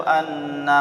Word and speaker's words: anna: Asyhadu an la ilaha illallah wa asyhadu anna Muhammadar Rasulullah. Wa asyhadu annanya pendek, nggak boleh kita baca wa asyhadu anna Muhammadar Rasulullah.